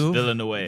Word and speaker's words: Villeneuve: Both Villeneuve, is that how you pronounce it? Dennis Villeneuve.